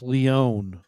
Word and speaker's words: Leon: Leon, it's Leon. Oh, Leon. Thank you.